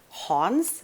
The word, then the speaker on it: Hans: research was done by hans and i'm pronouncing that in swedish i believe it's a german name originally h-a-n-s hans celia